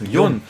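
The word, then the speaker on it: 四: Et le pire c'est que j'avais le 4 en japonais qui se prononce Yon, mais comme il y avait à peu près 40 personnes.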